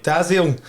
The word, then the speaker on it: Dalziel: Yeah, Not Dalziel. No, I like didn't. Some of your English friends call you. Aye, they've butchered them quite a lot, so it's good to be back up with the pronounce it.